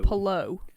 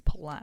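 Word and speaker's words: Palou: Pascal Verline and um Alex Palao or Palo is it? I can never I can never remember how you pronounce his name. An indie car. He's from Palo, but I think that's just Americans saying it wrong. I think it is Palao. Right. Okay. Palao sounds correct.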